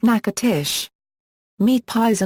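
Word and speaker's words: Natchitoches: The name is pronounced nakatish.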